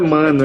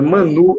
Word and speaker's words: Mãnu: Não é mano, é Manu. É porque tem trema em cima do U.